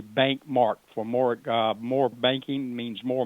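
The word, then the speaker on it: BancMarc: I call it bank. My corporate name is Bank. We're not regulated like a bank, but I spell it capital B-A-N-C, capital M-A-R-C, Bank Mark.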